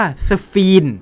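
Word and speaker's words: sphene: ชื่อ ของ ทาง รัสเซีย H T H E N E อ่าน ว่า ซา ฟิน หรือ มี อีก ชื่อ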